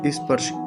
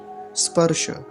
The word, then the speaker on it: स्पर्श: आगे क्या है स्पर्श स्पर्श में एक बात ध्यान रखेंगे पहले तो यह जो शुरुआत होती है इस शब्द की वो होती है दंती सकार से और वो भी आधा है कुछ लोग इसको बोलते हैं स्पर्श ऐसे करके स्पर्श ई नहीं लगाएंगे शुरू में सीधा सधा दंत सकार से ही आरंभ करेंगे स्पर्श ध्यान से